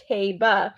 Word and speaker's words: Taiba: It's Taiba. So Tribhuvan. When I was watching the Manhattan and I heard the race caller pronounce it, and I was trying to make